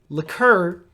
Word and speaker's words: liqueur: is liquor now liquor is really strong alcohol liqueur is weaker liquor might be 30 40 50